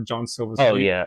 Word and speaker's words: Jean Silva: I uh we we dispute on whether it's Jean Sila John Silva so you'll hear it go both ways um